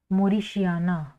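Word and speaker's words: mauritiana: जड वाई पी एच यू एस विवी फस मॉरिशिया एम ए यू आर आई टी आई ए एन ए ठीक है मॉरिशिया फस मोरिश इसकी फैमिली क्या होगी इसकी फैमिली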